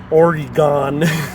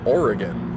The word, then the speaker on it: Oregon: Orgon. Orgon. Orgon. Orgon. No. All are wrong. It's oregan. It's like an ih sound that's really short, sharp.